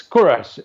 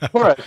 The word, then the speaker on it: Koorosh: And I said, it's Koorosh. And they're like, what? And I was like, it's Koorosh.